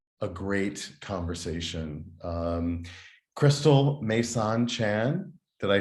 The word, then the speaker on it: Meisaan: this would be a great conversation um Crystal mesan Chan did I pronounce it correctly yes you did mesan yes mesan and you are uh based in Chicago uh